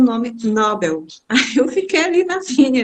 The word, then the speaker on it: Nobel: portuguesa a pronúncia é Nobel é por causa do l no final eu não posso pronunciar